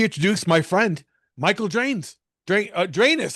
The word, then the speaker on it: Dranes: Drainus. I've been saying your name wrong. 'Cause I always call you Drano, but That's I fine. guess in the proper Greek would be Drainus, correct?